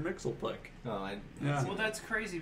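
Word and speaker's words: Mxyzptlk: Well, they pronounce it on the Super Friends. They always call him Mr. Mixelplick.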